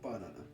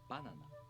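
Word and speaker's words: バナナ: have an accent on the first molar. Following the rule number 2, the rest of molars stay low in pitch. Banana. Yep. For example, banana. The pattern for this word is head-high. Banana.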